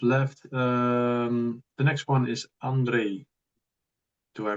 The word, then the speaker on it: Andriy: The next one is Andriy. Do I pronounce it correctly? Andriy, I'm Ukrainian, but American Ukrainian. But anyway, yeah, you can call me Andy or Andrei or Andriy.